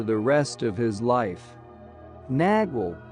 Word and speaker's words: nagual: Nagual, pronounced nawal, was the name given to the animal into which sorcerers could allegedly transform themselves, or to the sorcerer that elicited such a transformation.